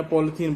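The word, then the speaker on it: polyethene: हम सिंपल में पन्नी या पॉलीथीन बोल देते हैं, तो अगर उसको प्रॉपरली प्रोनाउंस किया जाए तो पॉलीइथीन है।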